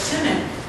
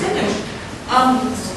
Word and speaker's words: Simic: by Charles Simic, who I thought was Charles Simic until earlier this evening when Bridget told me I was wrong. It's Simic. Who was our... No, she didn't say I was wrong, she just said it right.